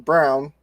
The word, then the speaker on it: Braun: out the bench and Christian Braun Brown I guess you pronounce it with six points three